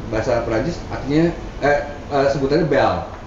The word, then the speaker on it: belle: Prancis artinya eh sebutannya b b jadi tulisannya bel Tapi bacanya B jadi think eh kok